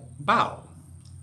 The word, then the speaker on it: bao: wu and the perfect bow by kat chung and illustrated by charlene chua is pronounced like bao not like bo amy wu and the